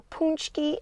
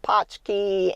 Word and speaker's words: Pączki: perfect Polish doughnut or punch key as it is pronounced by people in Poland it's going to say